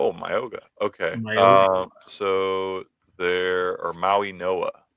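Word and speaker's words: Mauigoa: So there, or Maui Noah is the correct way to pronounce it.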